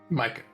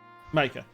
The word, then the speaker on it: Micah: Yes, Meike. I think I pronounced that right. Mike. Micah. That's it.